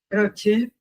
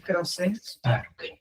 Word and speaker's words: Croce: En realidad muchos todavía lo dicen como se escribe que es cros con una sola C. una sola C y se pronuncia con CH como si se escribiera con dos C.